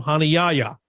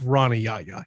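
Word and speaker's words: Rani Yahya: pronunciation of the week they played the audio file for how we have always called him hana yaya he calls himself rana yaya he has americanized his name wow well i mean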